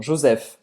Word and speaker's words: Joseph: Não, Joseph. PH em francês tem o som do F, como em pharmacie. Farmácia em francês se escreve assim, mas pronuncia pharmacie.